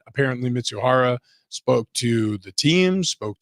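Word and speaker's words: Mizuhara: you want the name I spelled it out phonetically it's ipe miza mitsu Hara okay mitsuhara yes so he questions arised about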